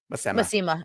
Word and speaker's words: Masema: Masema or Masima. Masima. Yeah, that's how they say it. Masema. Yeah. Yep. I only know the audiobook pronunciations.